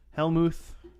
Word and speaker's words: Hellmouth: Helmuth. Yeah, Is that how it's pronounced? it's Like vodka, vermouth, Hellmouth.